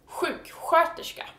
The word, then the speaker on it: sjuksköterska: And nurse is sjuksköterska. And here we have two sh sounds in the same word. Sjuk, which is sick, and sköterska, which is nurse. And sköterska is spelled SK.